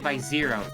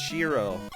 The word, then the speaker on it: Xiro: now there we go this is oh it's pronounced / zero that's the joke Oh / yeah see I thought it was a joke because it was pronounced Shiro no no it's 0/0 or just the serum